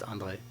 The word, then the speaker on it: Andrej: Do we pronounce the J? No, it's just André.